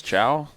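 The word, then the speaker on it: Caio: that what it is ciao I'm not like hello or something yeah Italian or bro no uh Portuguese right ciao so Mr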